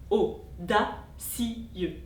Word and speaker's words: audacieux: La diérèse sur audacieux met en valeur le mot d'autant qu'il est placé à la rime. De trois syllabes on passe à quatre. Audacieux.